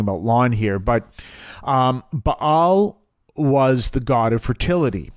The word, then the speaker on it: Ba'al: people away from the ba'als which is and it's spelled be a apostrophe a l that's why i say ba al of the ba'als and it's it is